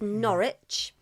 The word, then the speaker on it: Norwich: First because as usual of course uh so the first team we are going to talk about is Norwich.